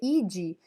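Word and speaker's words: idae: sufixo e de né a gente lê ide mas é idai que se escreve a como tá aí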